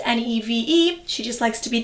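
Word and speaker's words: Niamh: this is my mom her name is Neeve spelled n i a MH pronounced NE v e she just likes to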